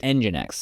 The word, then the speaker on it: nginx: faster and handle more visitors at once ngx pronounced engin X and this is a special type of web